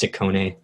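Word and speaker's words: Ciccone: a bunch of collaborators in um sorry it's pronounced sikkone youth but yeah it's probably just another one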